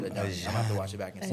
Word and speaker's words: Ajani: It's Ajani. Ajani. Ajani. What did she say? Ajani. Ajani. Ajani. Yeah, I think yes. I'm pretty sure she said Ajani.